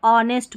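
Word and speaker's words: honest: एच देखें, ये जैसे आवर, इसको आवर और ऑनेस्ट पढ़ेंगे, ठीक है, इसको आर या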